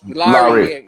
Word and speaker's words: Larry: think it's your brother is your name laura is it am i saying it right it's larry larry so off of this